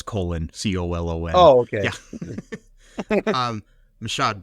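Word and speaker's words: Colón: Like your name. No, it's Colon, Colon.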